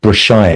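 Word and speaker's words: Brassaï: In fact, this film was very much influenced by a photographer called Brashai, and it's spelled Brassai, who shot very beautiful black and white photographs of Paris in the 1930s and 1940s.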